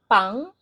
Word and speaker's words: pang: Pang. Okay, there's ng at the end. If you don't know how to pronounce the ng, it's like young. Okay, the young and old, young.